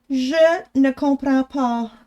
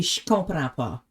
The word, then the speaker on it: je ne comprends pas: But then if you say it like in like spoken French, it'd be je comprends pas. Je comprends pas. You kind of like put the je and the ne together and you make a sh sound instead.